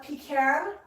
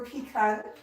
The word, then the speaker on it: pecan: so kt spirit here we either call it pecan or pecan there's sometimes a bit